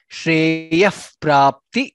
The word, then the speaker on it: श्रेयः प्राप्ति: Shreyah Prapti Karaushadham. Ya followed by Visarga and followed by pra. Therefore, it becomes Shreyah Prapti.